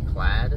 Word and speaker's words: Plaid: to say the uh I want to call it played but it's actually plaid pla ID it's in my mind that spells PL I'm going to call